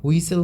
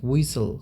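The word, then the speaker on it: whistle: হুইসেল মানে কি হুইসেল, হুইসেল, হুইসেল, এটার উচ্চারণ কিন্তু হুইস্টেল হবে না, হুইসেল মানে কি শীষ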